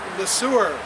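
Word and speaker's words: Le Sueur: And the name of the city is pronounced the sewer.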